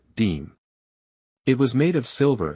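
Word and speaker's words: disme: tiny silver coin called a half dime, pronounced deem.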